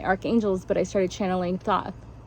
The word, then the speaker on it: Thoth: but I started channeling Thoth, or I think you pronounce it Toth, but it's spelled Thoth.